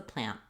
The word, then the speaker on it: plant: and that's the plant because plant is so short it gets cut here very short n and I raise my tongue stop the air for the T sound so that's the main